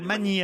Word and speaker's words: Masny: Le S se prononce ou pas? Non, non, pas du tout, non. Ah, je dois dire Magny alors. Exactement.